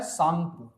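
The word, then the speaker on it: Tsangpo: इसे बोला जाता है सांगपु है ना टी साइलेंट होता है इसे हम क्या बोलते हैं सांगपो और यहां पे देखोगे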